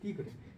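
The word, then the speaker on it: tigre: 띠그레. 자, 보세요. 스페인어에서는 자, 이 T 발음을 쌍디귿 발음으로 해요. T 티그레가 아니라 띠그레. 쌍디귿으로 발음하는 거예요.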